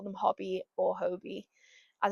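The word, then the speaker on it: Hobbii: As an English person, I'd probably just call them Hobby, but I think they are from Denmark. Correct me if I'm wrong. I think they're from Denmark, and I've heard someone pronounce it Hobie, so that's what I'm going to be saying.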